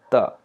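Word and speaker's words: ثاء: But this is not t sound. This is thinner sound, the. And how do we pronounce this the? By touching our tongue, tip of the tongue.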